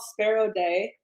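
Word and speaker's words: Sperodei: nashville uh it's called sparrow day it's pronounced like the bird but spelled s-p-e-r-o-d-e-i wow you know it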